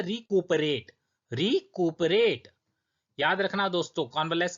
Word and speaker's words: convalesce: कॉन्वलेस इसका प्रोनाउंसिएशन है।